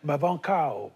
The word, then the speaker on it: Mabanckou: que j'enseigne aux États-Unis comment on prononce votre nom en Californie mabano mabano voilà à l'américaine pourquoi est-ce que c'est